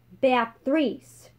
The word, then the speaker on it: Beatrice: the sound of it beatrice it's pronounced bathries now the chance of